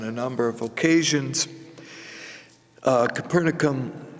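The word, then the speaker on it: Capernaum: for in invitation now capernum is where the synagogue is um we have mentioned this on a number of occasions uh capernum or kaeron some would pronounce it was was an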